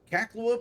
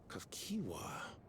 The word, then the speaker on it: Kiwa: how you name that this whole time I've been call calling her caca because we never heard her name spoken but that's how it's pronounced no we're not doing that Kiwa I'm afraid I'm not